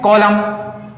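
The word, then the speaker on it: column: confusion हो रहा होगा देखो इसमें भी एम के बाद एन है तो यहां पर एम साइलेंट था उसमें भी एम के बाद एन है तो यहां पर एन साइलेंट है तो देखो ये हमेशा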